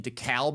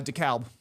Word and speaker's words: DeKalb: Uh DeKalb. DeKalb. Yeah, I think the Atlanta way of pronouncing it doesn't make any sense. DeKalb, where's that L, man?